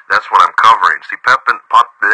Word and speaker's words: Pepin: See, Pepin. It can be pronounced Pippin.